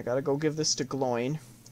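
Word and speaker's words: Glóin: First, I gotta go give this to Gloin. Or Gloin, depending on how you want to pronounce it, but in this game they pronounce it Gloin. Bilbo. In the animated version they said Gloin.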